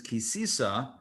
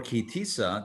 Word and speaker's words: Ki Tisa: 2021 torah portion is kisisa or kitisa depending on how you pronounce it and we are ready